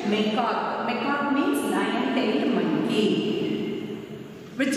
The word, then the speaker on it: macaque: What is the pronunciation? Macaque.